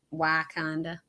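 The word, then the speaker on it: Wakonda: knew anybody i didn't know northern missouri said why kinda but that's right i'll continue to mispronounce it perfect um and i'm sure we'll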